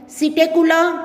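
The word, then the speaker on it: Psittacula: Corvus crow, Columba pigeon, सिटेकुला P silent है parrot, Struthio ostrich, पेवो peacock, अपेनोडाइट्स penguin, नियोफ्रॉन vulture.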